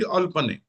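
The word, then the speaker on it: אֶל־פְּנֵי: तो जब भी कोई मोनोसिलेबल वर्ड आएगा उसको इस हाइफन के जरिए से, ठीक है ना, जिसको मतेक कहते हैं, इसको इसके साथ मिला देंगे, अगले के साथ। तो इसको आप अल नहीं पढ़ेंगे, इसको अल, और आगे ये क्या है जी, पने, तो ये हो जाएगा जी अल पने।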